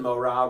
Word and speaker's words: morah: So another word that comes out of this word is moreh and morah, Teacher. which means teacher. So there's a reason morah rhymes with Torah.